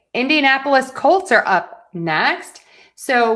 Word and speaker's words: Indianapolis: Indianapolis Colts are up next. So we are going to stress the n and then colts because colts just has one syllable.